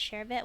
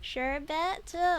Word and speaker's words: sherbet: while we check that sure bet versus sure B uh words sherbet comes from lack and R in the second syllable the sherbet spelling has